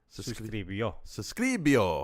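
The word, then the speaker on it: suscribió: There's an accent at the end, so it's suscribio.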